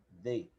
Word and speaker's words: the: no lado de baixo a gente colocar a língua no meio dos dentes então vai falar dei você vai falar quando suas palavras de e só que com a língua no meio dos dentes então se fala dei então para não se